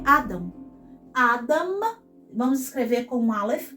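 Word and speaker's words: אדם: Vamos, então, colocar como uma sílaba tônica, onde o Kametz aparece. Então, eu vou falar mais forte o da aqui do que o a. Então, Adam. Adam.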